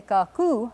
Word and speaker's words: Kaku: when you call her you say Kaku with the accent on the second syllable but if you're talking